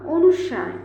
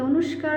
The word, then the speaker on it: অনুস্বার: করব ত খন্ড এটা অনুস্বার এই দেখো আমি বাংলায় লিখে দিয়েছি তোমরা অনেকে অনুষ্কার বলো হবে না কি হবে অনুস্বার তো তোমরা ভুল করবে